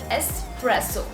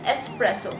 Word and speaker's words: espresso: next coffee is espresso well that is not the correct pronunciation of this particular coffee v presents it espresso the correct pronunciation of this coffee is espresso not espresso as we heard a lot of times now what this coffee